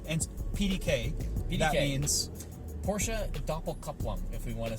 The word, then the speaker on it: Doppelkupplung: All right, and PDK, that means Porsche Doppelkupplung, if we want to say it correctly, or Gesundheit.